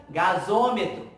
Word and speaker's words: gasômetro: Observa que pronúncia estranha, gasmetro. Aí eu boto um O, que é uma vogal de ligação, e fica gasômetro.